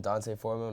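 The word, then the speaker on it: D'Onta Foreman: my start is uh Deontay Foreman Dante foreman and Rihanna's I've heard his three different ways to say his name but I'm gonna say Deontay Foreman Panthers running back obviously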